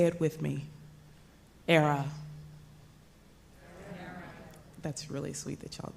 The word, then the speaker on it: Airea: say it with me era that's really sweet that y'all did that rhymes with Sarah Sarah from the Latin